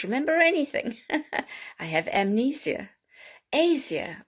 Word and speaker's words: Asia: anything i have amnesia asia or we say asia asia now okay some people say asia but i think it's asia that would fall under